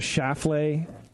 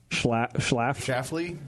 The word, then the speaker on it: Schlafly: You heard of Schlafly? Schlafly? The locals go say Schlafly. Schlafly? Schlafly. The first L is silent?